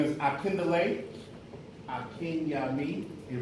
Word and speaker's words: Akinyemi: My name is Akindale Akinyami. It rhymes with a friend of me, Akinyami.